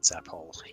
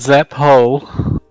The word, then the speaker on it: Zaphole: I just wanted to get the name of that security dickhead down, but that's Kane Zaphole. Yeah. Spell it right, Got to get it right. not Zap Hole. Zaphole.